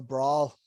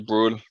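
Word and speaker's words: Brühl: But having started to rewatch Marvel the other day, well, over the last 2 weeks, I went with Daniel Brawl, or however you say his name. Daniel Bruhl. Yeah, that guy.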